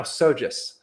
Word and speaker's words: SoGES: anymore because that's the first reference so now sojus yep that's us okay sojus okay micah always